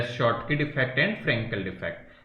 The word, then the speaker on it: Schottky: बेटा इसमें ये साइलेंट रहता है, इसको शॉर्टकी पढ़ता है ना, so that is शॉर्टकी defect and वन is Frenkel defect, and this is very very important.